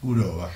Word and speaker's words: Gurova: Le preguntaba a Poli cómo se pronuncia el apellido bien para decir Gurova y vos decís Gurova ahora.